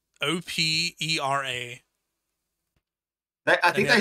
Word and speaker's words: Opera: There's no way they're called Oprah, bro. It's, wait, hold up. It's O-P. Sorry. O-P-E-R-A.